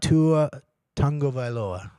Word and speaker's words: Tua Tagovailoa: Was about Tua Tagovailoa. That's how I pronounce it.